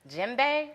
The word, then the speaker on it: Djembe: Caribbean, hip hop, Kemetic Yoga, as well as Djembe Percussion.